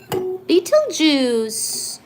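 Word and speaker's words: Betelgeuse: Once more, beetle juice. Did you know that Beetlejuice is spelled as B E T E L G E U S E and it's supposed to supernova soon?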